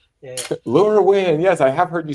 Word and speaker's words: LoRaWAN: I don't know how this is pronounced. Yeah. LoRaWAN.